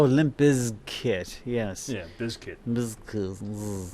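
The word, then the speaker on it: Limp Bizkit: get the pronunciation right biz kit oh limp is kit yes yeah biscuit it would be b-i-z-k-i-t which would be biscuit not biscuit no no no because that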